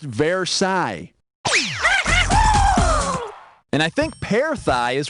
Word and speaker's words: Versailles: ended like world war one or something it's pronounced versailles and i think parathi is what you get